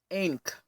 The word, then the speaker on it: ankh: root word for ink it should be pronounced Inc not ankh Inc I still fall